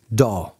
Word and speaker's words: DAW: Such multi-track recording software is usually called Digital Audio Workstation, or DAW, usually pronounced as one word, DAW.